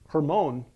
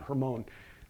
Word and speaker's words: Hermon: Hermon which by the way because of that hermone which is the correct pronunciation hermone derives from a Hebrew word that means forbidden